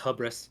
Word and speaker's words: hubris: It's pronounced hubris.